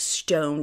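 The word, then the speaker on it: Stonned: St n Ned D but it's pronounced just like stoned I heard the owner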